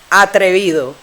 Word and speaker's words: atrevido: Like if I say atrevido, Atrevido. Okay, that's 3 syllables. Atrevido. Atrevido. Atrevido. That's it. Atrevido. You hear every sound.